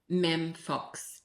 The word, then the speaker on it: Mem Fox: Mem Fox, M-E-M, short for Miriam.